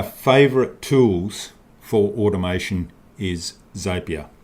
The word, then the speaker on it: Zapier: tools for automation is zapier or as a beer actually it is so as a parrot rhymes with happier zapier is a software